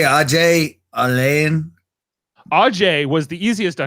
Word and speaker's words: Alain: It's not Alan. It's not Elaine. It's Alain.